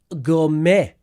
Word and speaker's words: gourmet: We've got gourmet.